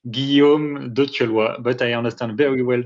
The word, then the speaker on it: Guillaume de Thieulloy: First of all, my name is pronounced this way, Guillaume de Thieulloy, but I understand very well that a lot of people cannot say it.